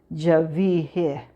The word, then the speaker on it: Genevieve: First name is pronounced the French way, Javier."